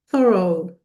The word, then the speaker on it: thorough: So, it's thorough. Thorough. And notice how I stick out the tip of my tongue when when I'm saying this word.